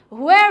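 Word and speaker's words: where: হুয়ার ওয়ার you born, ওকে, হা উচ্চারণ করতে হবে না, জাস্ট একটু জোরে হুয়ার ওয়ার।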